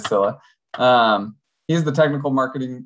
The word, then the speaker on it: Scylla: is the technical urcilla the pronunciation uh i believe is scilla um he's the technical